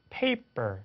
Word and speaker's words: paper: 그래서 강세를 받지 않는 곳에서는 바람 소리가 빠진다.